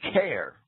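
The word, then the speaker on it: Caer: Well, let me say that that word care or car, C-A-E-R, I'll pronounce that care, right?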